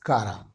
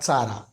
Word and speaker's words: Chara: It is belong to division Charophyta, then class Charophyceae, order Charales, family Caraceae and genus Cara, not Chara. Its pronunciation is Cara.